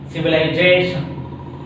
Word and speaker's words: civilization: The words ending with the suffixes like ION, IAL, IC, IOS, ATION express on second syllable from the end. So confusion, social, logic, delicious, civilization. Okay, I hope you could understand these rules.